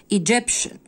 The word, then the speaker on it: Egyptian: Egyptian شن T-I-A-N هنا تنطق شن Egyptian.